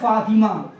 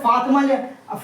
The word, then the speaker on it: فاطمہ: جیسے دیکھ لیجئے جیسے فاطمہ، فاطمہ یہ ہاں لکھا تو جاتا ہے مگر پڑھا نہیں جاتا ہے، جیسے سمیہ، سمیہ، ٹھیک ہے؟ جیسے فاطمہ انگلش میں لکھیں گے تو اس کی دیکھیے فاطمہ ہوگا، سمجھے؟